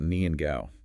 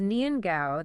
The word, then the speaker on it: nian gao: It is nian gao, that sticky rice cake is all about progress and prosperity. The gao in its name sounds like the word for high or tall.